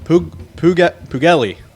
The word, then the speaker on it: Puglielli: I believe I got that pronunciation wrong. What is it, Joe? Pugelli.